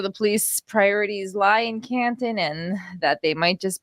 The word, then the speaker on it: Canton: not in Canton and say it right it's Canton Canton whether you are in